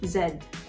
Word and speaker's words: zed: Z is not Z It's pronounced Zed z-e-d it's like that's how